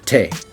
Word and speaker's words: te: Next is the letter T, as you say in English, but in Spanish it's te. And it's a faster T.